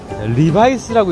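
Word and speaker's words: Levi's: 레디스래. 읽어봐. 리바이스라고 읽는 거예요.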